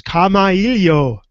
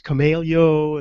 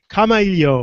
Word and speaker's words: Kamailio: talking about something that you need to learn how to pronounce and that is camaelio because everybody says kamelio and you know kamalio right daniel yes right like in hawaiian language and dan i'm going